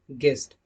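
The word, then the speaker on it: guest: यू आता है तब भी वहां पर यू साइलेंट होता है। Example गाइड, गेस्ट।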